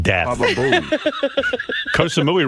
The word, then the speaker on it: Koh Samui: Koh Samui sounds like death. Baba Booey. Koh Samui rhymes with Baba Booey.